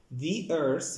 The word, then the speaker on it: the earth: The earth، خلي بالكم النطق بتاعي ما قلتش the earth، قلت the earth، إن شاء الله هنتعلمها في كورس الصوتيات قدام. The earth، لأن هنا the جه بعديها كلمة earth اللي هي بادئة بحرف متحرك E، فبقول the earth.